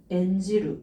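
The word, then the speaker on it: 演じる: 그래서 이거 음독으로 읽어줄 때 N 이라고 읽는데요. 제가 아까 음독에다가 지루를 붙여주면은 이 음독을 하는 거였잖아요. N지루 뭘까요? 배우가 연기하는 거예요. N지루. 이렇게 보시면 되겠습니다.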